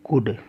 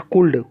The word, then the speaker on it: could: जैसे आप लिखते हैं कुड, COULD, देखो डी से पहले एल है। नॉट कुल्ड, कुड, कुछ लोग कुल्ड बोलते हैं, WOULD, उड, नॉट उल्ड, उड।